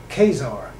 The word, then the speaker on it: Khazar: khazars or the huzari since most Americans can pronounce the guttural khazar I'll pronounce that name the way it's spelled in English Kazar the Kazar has beat